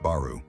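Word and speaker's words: 原: Some place names in Kyushu are written har but pronounced baru evoking the cemetic storm deity Bale and the Mesopotamian sea god Deeon names that sound like dragon.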